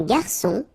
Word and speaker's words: garçon: Une cuillère à soupe, un garçon. Remember when we get this cédille beneath the C, it will give you the pronunciation S of C. So instead of K, as it should be with O, okay?